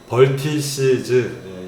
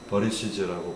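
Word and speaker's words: vertices: 그 벌텍스의 복수형은 벌텍스가 여러 개 있으면 아주 바람이 부드러운 버리시즈, 벌티시즈 이렇게 부르시거나 T 발음은 대부분 리을 발음이기 때문에 버리시즈라고 부릅니다.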